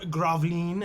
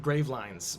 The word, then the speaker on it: Gravelines: say, and it's spelled Gravelines. But I think it would. How do we say it? I think it's Graveline. Graveline? The E's probably pronounced Graveline. We'll probably call it Graveline.